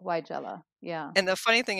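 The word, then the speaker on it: Weigela: j u h so why jula that's how they're saying to pronounce it you're you're that that capital letter tells you that your emphasis should be on that syllable why jell-o yeah and the funny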